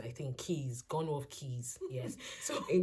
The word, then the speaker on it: Quays: It's spelled Quays. My head is saying it's Quays, but here they call it Keys. I think Keys, Gunworth Keys.